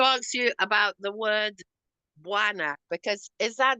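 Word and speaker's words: bwana: As you pronounce it properly, it's buana.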